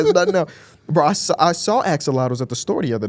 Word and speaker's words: axolotl: I think you're saying it wrong. Axolotl. Axolotl. Oh, I thought it was axolotus.